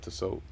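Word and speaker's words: Tissot: the so the t is silent yep to soap but yeah man so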